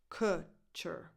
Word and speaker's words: Kutcher: Kutcher. So the vowel here, that U, has the same sound that you have in words like book, look, good, cook, Kutcher. And then the other syllable is unstressed.